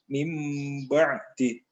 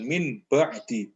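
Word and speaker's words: مِنْ بَعْدِ: ada mim kecil dan mim itu dibaca ya, mim ba'di. Bukan min ba'di, itu salah. Kalau membacanya min ba'di itu namanya idhar dan itu salah ya, karena ba ini adalah hurufnya iqlab. Jadi membacanya mim ba'di.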